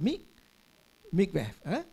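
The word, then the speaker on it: mikveh: How do you pronounce that? Mikvev.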